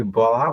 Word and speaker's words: Bola: It's you can actually call me Bola, but it's pronounced.